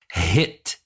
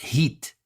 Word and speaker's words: hit: asking for help, because the way you should pronounce the word is hit, not heat, not heat, of course, not a long one, not even a short one.